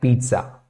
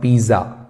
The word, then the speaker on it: pizza: the park simple sentence we like pizza not Piza okay please pay attention to the pronunciation as well it's not Piza it's Pizza okay so because they notice